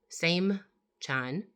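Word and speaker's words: Seymchan: It's called Saman Sam Chan palladium meteorite. Samchan palladium meteorite. And it's spelled s e y m c h a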